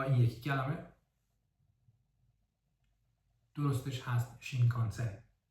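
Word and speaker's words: 新幹線: ایناری و یا این یکی کلمه درستش هست شین کانسن و یه کلمه دیگه که تلفظش شینجوکو هستش ولی یه سری کلمات دیگه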